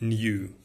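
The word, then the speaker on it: knew: что мог знать Человек это слово читается в американском британском будет New так же как и слова новый он знал эти камни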